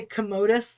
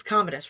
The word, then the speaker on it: Commodus: it commodus yes yes because i keep wanting to say commodus like but it's not it's commodus roman emperor commodus um